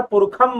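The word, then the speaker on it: पुरुषम्: जो आते हैं, तो वो जो षटकोण वाला जो श है उसको संस्कृत, वैदिक संस्कृत में, वेदों के संस्कृत में उसे कहीं कहीं ख भी पढ़ा जाता है। इसलिए मैं यहां पर पुरुखम महांतम उच्चारण कर रहा हूं, ठीक है।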